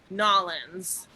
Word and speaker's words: New Orleans: this time and um or i guess it's new orleans or nollins if you want to do it right right actually the first